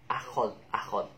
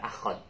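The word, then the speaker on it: أخذ: Akhad. Mungkin klunya itu hari Ahad, tapi bukan akhad. Nah, bacanya itu akhad, bukan ahad. Maaf kebalik tadi. Jadi bacanya itu akhad. Ingat-ingatnya dengan nama hari, yaitu hari Ahad.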